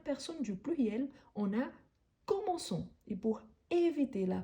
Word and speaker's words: commençons: à la première personne du pluriel on a commençons et pour éviter la prononciation comment con donc là il faut ajouter la Sédille nous nous commençons nous commençons vous commencez ici ça revient avec